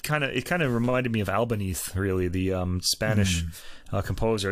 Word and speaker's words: Albéniz: Albéniz, he would be pronounced in Spanish.